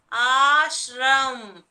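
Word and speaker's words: आश्रम: Whenever you pronounce in Hindi, the ending word you will get only the half sound, children. You will not get the full sound of the ending letter. Even if you write it as full Ma, you will not pronounce it as Ma. Okay, only you will pronounce. Okay, so ashram.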